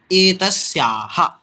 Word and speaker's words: एतस्याः: तो इसमें उच्चारण पे ध्यान दें। एतस्याः ऐसा उच्चारण करना।